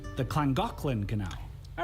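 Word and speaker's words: Llangollen: didn't touch the walls so this is The langin Canal at least that's how I read it but I learned the Welsh pronounced the double L's as CLA so it's actually pronounced the clangin canal all right this part seems simple enough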